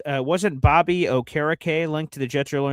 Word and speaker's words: Okereke: Uh I always thought it was Bobby Okereke, uh but I have been told it's Bobby Okereke as a name pronunciation guy.